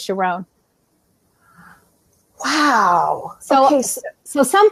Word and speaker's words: Sharon: to a wedding where the rabbi pronounced the name Sharon Sharon and she came and told me that and my whole body vibrated and I said that's my name so then I switched with three days and it was sharone Wow so he's the